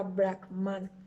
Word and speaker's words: Brahman: como ya antes mencionado brackman es una esencia del mismo parte de la creencia de una deidad del personal conocida como bragman que se pronuncia brackman en simple lancha con